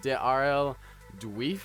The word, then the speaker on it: RL-Duiven: But I believe it's Rl-Duiven is what we were told is how it's pronounced, so we're praying that that's correct.